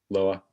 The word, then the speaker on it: Loa: Is that how you pronounce it? Loa.